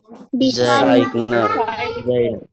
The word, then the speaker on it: designer: Designer. Oke. G-nya enggak usah dibaca G-nya. Jadi bukan design tapi designer. Design designer deser. Nah, jadi G-nya enggak usah dibaca ya, desainer.